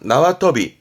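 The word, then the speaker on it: 縄跳び: 줄넘기 발음은 나와터비, 나와터비.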